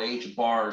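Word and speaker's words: ħ: call this we call this H bar called H bar as you pronounce it it's h over 2 pi H bar Microsoft Word if you will now this uh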